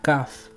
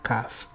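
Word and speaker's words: כ: Cuando la kaf no lleva el punto interior, o sea, el dagesh, se pronuncia suave y velar, similar que la het.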